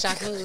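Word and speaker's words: Jacquemus: Yes, Jacques Mew.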